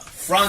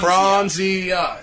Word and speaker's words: Franzia: Franzia. Fronzia. It's only three syllables, bro.